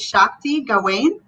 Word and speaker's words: Shakti Gawain: And the other one is, and Mark, help me with this, but I think it's Shakti Gawain. Is that the way you say her name? Yes.